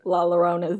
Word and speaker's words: La Llorona: their only hope of surviving la la rona's deadly wrath stop laughing that's how they say it okay is a disillusioned